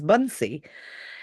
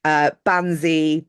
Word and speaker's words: Bansi: My actual name is Bunsey, Mm. and it's spelt Bansi. And so I have spent a lifetime correcting people on the pronunciation of that. Banzi, Banzai, Bonsai, Bouncy.